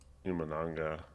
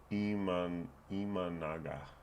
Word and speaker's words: Imanaga: But they're facing Imananga. Imananga? I always pronounce his name wrong. Imanaga. There we go.